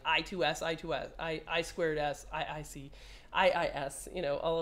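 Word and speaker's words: I²S: I squared S inter IC sound, pronounced I squared S, which I'm never going to say again, I2S.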